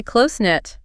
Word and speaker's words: close-knit: Also a silent letter there. Yep. Silent T. Closen-knit.